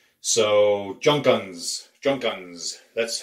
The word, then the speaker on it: Junkunc: we were pronouncing as junk ankh the surname was spelled je u NK u in C Z + cz in Hungarian is pronounced like the S and it's so Junkins junk guns that's how it would